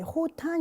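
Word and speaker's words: Khotan: 때 2호 타는 말씀드립니다 h 앞에 케이가 역시 묵음 이기 때문에 호탄 이라고 발음을 하는데요 4회차 때 2호 탑만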